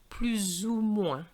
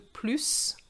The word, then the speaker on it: plus: going to have liaison plus so in effect we could say that there's three pronunciation three pronunciations of proof you have the plus the plu and the plural with the liaison particular plus this is